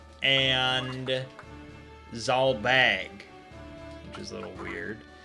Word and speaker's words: Zalbag: So I was right about Dysadarg pronunciation, but it's Orlandu and Zalbag, which is a little weird.